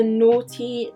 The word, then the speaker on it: Noughty: So this line is the Noughty natural line, and it's like naughty spelled like naught, so I guess it's like no baddies in it, I guess.